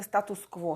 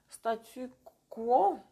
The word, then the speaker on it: statu quo: de, comment on dit, comment on prononce en français status quo, ça c'est en russe. Statu quo, ça c'est bizarre.